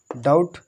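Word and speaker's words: doubt: देख लीजिए ऊपर से, यदि टी से पहले बी आ जाए तो बी साइलेंट रहता है, ठीक है, जैसे डेट, ठीक है, और डेटर, डाउट, डाउटफुल।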